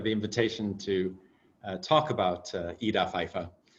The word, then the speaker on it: Ida Pfeiffer: And thank you for the invitation to talk about Ida Pfeiffer, as you correctly pronounce her name in German, although of course in English people say Ida Pfeiffer, but I kind of prefer Ida myself.